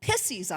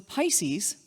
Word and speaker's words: Pisces: and how it had the word pisses on the side of it. She kind of laughed and asked me to show her the fish. She corrected my pronunciation and I had a new word in my vocabulary.